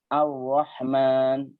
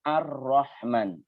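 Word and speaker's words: الرحمن: Makanya pengucapan yang benar itu bukan Ar-Rahman, bukan. Tapi Ar-Rahman.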